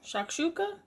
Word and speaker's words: shakshuka: So hubby just came home, and he's about to taste the shakshuka. So I already prepared his piece for him. Okay. How do you pronounce it?